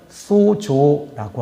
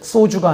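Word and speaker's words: σῴζω: 그리스로 살펴보니까 어떤 단어냐면 소조라고 하는 단어 쓰고 있습니다. 발음을 잘해야 되죠. 소주가 아니라 소조 소조.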